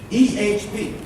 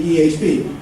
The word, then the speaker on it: EHP: EHP. I used to say EH, but then George says it has to be EHP to rhyme with EMS.